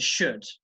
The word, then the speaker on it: should: Okay, so the L is silent. Okay, and that's the same for other modal verbs like could, which you can also see in this, and should.